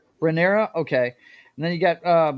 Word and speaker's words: Rhaenyra: You guys help me with the pronunciations here. How Targaryen is the last name, but what's her first name? Rhaenyra.